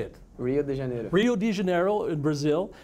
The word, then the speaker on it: Rio de Janeiro: generator really yeah how do you say it rio de janeiro Rio de Janeiro in Brazil and there is